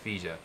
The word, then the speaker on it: Higa: Neither my teachers nor parents would teach me that Higa is the Japanese pronunciation of a name which used to be pronounced Fija.